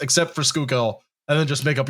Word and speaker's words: Schuylkill: If it looks, just say it the way it's pronounced, except for Schuylkill, and then just make up your own rules.